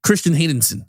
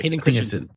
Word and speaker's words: Hayden Christensen: Anyway, Christian Haydensson, I hope I said it right. Hayden Christensen back.